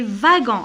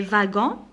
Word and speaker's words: wagons: Les wagons, alors ici, la lettre W, je la prononce V. Les wagons, point, majuscule.